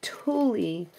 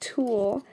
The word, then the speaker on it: tulle: clear bags um ribbon Tulie and I say Tulie somebody said that I was saying it wrong I know that it's pronounced tulle but that's the way